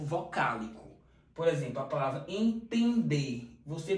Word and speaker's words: entender: por exemplo a palavra entender você pronuncia esse é É como se tivesse um tio por isso que ele é und dígrafo vocálico você não pronuncia esse n entender portanto neste caso nós